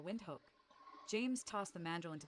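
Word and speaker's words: Windhoek: This is how you say Nambia capital wind hook.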